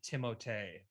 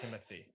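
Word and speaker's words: Timothée: have heard it uh someone said it's actually timothee not timothy which i'm sorry you're not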